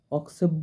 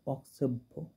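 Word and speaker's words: অক্ষোভ্য: ধ্যান মন্ত্রের লাস্টে আছে অক্ষেব্য দেবী মূর্ধন্য স্ত্রী মূর্তি নাগরূপধী এইখানে অনেকজনে অক্ষেব্য বলে এটা কয় মূর্ধন্য অক্ষেব্য অক্ষেব্য দেবী মূর্ধন্য উচ্চারণ করে কিন্তু এটা অক্সেব্য অক্সেভ এরকম ভো এরকম টাইপের উচ্চারণটা হবে আরেকটা দেখবেন জলচ্চিতা মধ্যগতাং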